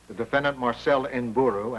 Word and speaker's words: Nburu: How do you pronounce the name? N-B-U-R-U.